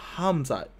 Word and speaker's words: Khamzat: And he's fighting this guy named Khamzat. The K is silent. The H is hard.